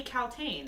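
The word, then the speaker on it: Kaltain: But her name You know how to pronounce her name, right? It's Lady Caltaine.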